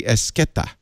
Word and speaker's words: Esqueda: So it's Ashley Esqueda. Yeah, it's Esqueda. But then, that DA at the end trips people up.